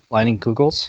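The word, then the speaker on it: Leinenkugel's: Leinenkugels. Leinenkugels? How do you spell that?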